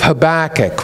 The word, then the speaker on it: Habakkuk: it in the right spot the book of Habakkuk which is in the Old Testament after the major prophets Hosea Joel Amos Obadiah Jonah Micah Nahum Habakkuk okay I don't know if you all still